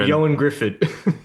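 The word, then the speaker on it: Ioan Gruffudd: Alex Hyde White, Ian Griffid, if I'm pronouncing that right, Miles Teller, Yan Griffid. That's right.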